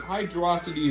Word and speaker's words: Hydrocity: I mean, Hydrocity is the only real water stage in this game, and I'll try to pronounce it both Hydrocity and Hydro City, just to both piss people off and make everybody happy.